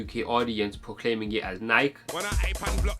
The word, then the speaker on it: Nike: a large percentage of the UK audience proclaiming it as Nike.